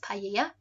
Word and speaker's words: paella: Something they might have in their main meal might be this here, paella, or we call it, and in Spanish pronounced paella.